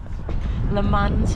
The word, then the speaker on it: Le Mans: Le Mans was the last time. Have I pronounced that correctly?